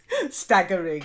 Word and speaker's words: staggering: staggering, yeah, with the hard g.